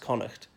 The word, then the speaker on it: Connacht: the Western one is Connacht pronounced Connacht not court I've heard some English people who think that it's a silent GH in that word but it's not and this connemara is